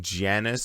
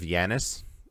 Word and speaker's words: Janus: Oh, by the way, they call him Janus instead of Yanis, which is weird because that's not how you pronounce it.